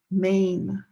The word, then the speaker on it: Maine: This state here is five letters. Maine. Maine. One syllable.